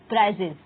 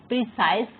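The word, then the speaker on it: precise: Question number 60 है, there is no rule regarding the length of अ प्राइजेस with relation to that the original passage. Sorry, यहाँ प्रीसाइज pronounce करेंगे, प्रीसाइज।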